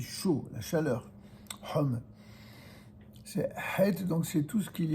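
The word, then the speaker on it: חית: C'est une lettre gutturale, d'accord, qui se prononce Het, c'est-à-dire elle est vraiment du fond de la gorge.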